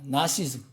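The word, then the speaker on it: Gnosticism: 이거는 그노시즘이라고 그래요. 이제 그는 발음 잘 무음입니다. 나시즘. 그러나 그자가 붙어 있어요. 철자에는 G가 붙어 있어요.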